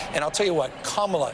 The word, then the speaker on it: Kamala: I'll tell you what kamla Harris will show up tonight not Camala yeah I think this